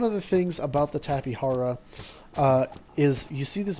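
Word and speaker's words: Tapejara: is the tapihara uh which is its uh correct pronunciation tapihara not tapijra as i've heard some people call it uh the tapihara um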